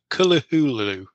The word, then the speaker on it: Cthulhu: it is the uh they make the point that HB Lovecraft pronounced cthulu differently from cthulu he pronounced it um t t Tulu or k kahulu but he wasn't trying